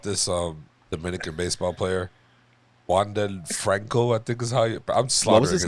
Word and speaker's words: Wander Franco: think is his name Juan Del Franco ah there you go I think I said it right I'm trying to say what I call them wander Franco yeah I didn't want to say the English way but he's um got